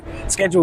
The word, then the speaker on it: schedule: a lot okay so schedule is an interesting one cuz in America you use the c in England we use the sh exactly schedule okay fantastic approach Appreciations.